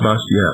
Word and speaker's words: Bastiat: The last name is Bastiat. Bastiat, yes. It's pronounced Bastiat.